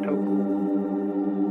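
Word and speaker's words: 德: The Japanese pronounce it toku, the Cantonese duck, and the northern Mandarins approximately dirt.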